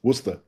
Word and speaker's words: Worcester: Well, two syllables, Worcester.